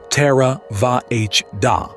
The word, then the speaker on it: Theravāda: Buddhism: The Great Contributions of the Buddha Theravada (pronounced — more or less — "terra-VAH-dah"), the "Doctrine of the Elders," is the school